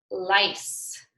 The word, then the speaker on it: lice: that's right but again lice is not spelled with an S it's spelt with that seed but it's our s sound very good now what